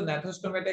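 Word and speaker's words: Gnathostomata: है तो एग्नेथोस्टोमेटा कहेंगे, अगर जॉ प्रेजेंट है तो नेथोस्टोमेटा कहेंगे, जी इज साइलेंट हियर, ठीक है, तो इसको नेथोस्टोमेटा कहा जाता है।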